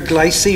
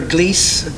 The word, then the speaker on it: Gliese: the red dwarf here glycine or gliese depends how however you want to pronounce it um the red